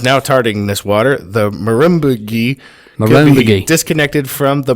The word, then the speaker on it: Murrumbidgee: Murrumbidgee. There you go. Murrumbidgee.